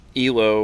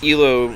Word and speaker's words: Elo: So to answer Olson's question, ELO or ELO, it's named after a guy named Arpad Elo, so it usually just pronounce it because it's not actually an acronym that people mistake it to be.